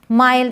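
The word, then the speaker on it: mild: भी वर्ड्स हैं kind माइल्ड इसे किंड और मिल्ड नहीं पढ़ेंगे काइंड माइल्ड ग्राइंड वाइल्ड तो एक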